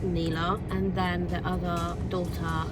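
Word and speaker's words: Nila: I think it's Neela actually, because I think it's N-I-L-A, but pronounced Neela.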